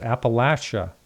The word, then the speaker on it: Appalachia: and we're talking about, I say it wrong, I was always, my whole life I've been saying Appalachian, and it's Appalachia. Is that how you say that? That's how we say it, Appalachia, yeah.